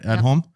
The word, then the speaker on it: Edholm: That's how you pronounce the last name, right? Edholm?